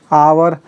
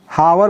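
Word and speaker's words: hour: They waited for her, they waited for हर फॉर आवर। अब इसे हम हावर पढ़ेंगे कि आवर पढ़ेंगे, बता दीजिए।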